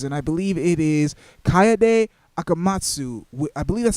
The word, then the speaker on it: Kaede Akamatsu: Already we get to see who the main protagonist is, and I believe it is Kaede Akamatsu.